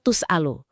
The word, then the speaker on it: tus'alu: Kiroat mayoritas ulama yang ada di mushaf kita juga, itu bacanya wala tus'alu. Huruf taknya dibaca doma, tus'alu, jadi bentuknya pasif.